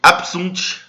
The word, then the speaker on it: absunt: português bônus abest ã e diante do som de s ou I tem o som de p absunt apo apit ã aqui o c